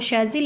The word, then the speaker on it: शेज़िल: तो जी इसका नाम है शेज़िल, और अक्सर लोगों को इसका नाम नहीं आता प्रोनाउंस करना, लेकिन इसका नाम जो है ना वो शेज़िल है।